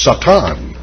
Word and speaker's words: Satan: Because in Hebrew, it is spelt exactly the way you see it here and pronounced almost the way that an Englishman would pronounce it today. It's Satan.